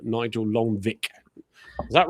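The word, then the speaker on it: Lonwijk: Lvike, I can never remember how to pronounce his name. Nigel Longvik, is that right? Harve Longvik Longvike.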